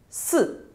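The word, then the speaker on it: 四: Number four in Chinese is pronounced as si. Another Chinese word which means death is pronounced as si. So the pronunciation is exactly the same apart from the tone.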